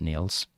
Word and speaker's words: Niels: And I just assumed that being in Scandinavia, that would be pronounced Niles. So that's the reason I've been doing that, Niels.